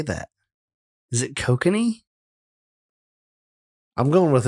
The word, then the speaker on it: Kokanee: So, how do you say that? Cocaine. Hold on. I got the pronunciation is coming. It is not. Yeah. I love where you're going, but here. Well, I don't fucking do what I want. So. Oh, I have it turned down all the way. Kokanee. Kokanee. Kiss my ass. That's another thing Canadians don't do right.